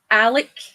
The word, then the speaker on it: Alex: Well, actually, they pronounce it Alec. Alec? Okay. My dad was Alex with an X, but it was like, it's Alec. Well, because it's like a Scottish thing.